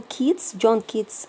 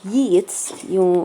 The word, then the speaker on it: Keats: Okay, we have John Keats or Yeats. They pronounce it two different ways. John Keats or John Yeats.